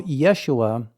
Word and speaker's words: Yeshua: But first of all, Yeshua I mean, I understand that is like the Aramaic pronunciation of the person we call Jesus.